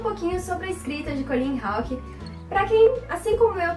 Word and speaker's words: Colleen Houck: Bom, vou começar falando um pouquinho sobre a escrita de Colleen Hawke. Para quem, assim como eu, também não sabia, é assim que se pronuncia o nome da autora, Colleen Hawke.